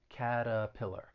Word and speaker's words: Caterpillar: for making machinery and again that t i'm going to use a flat t and that second syllable has that schwa caterpillar caterpillar let's switch gears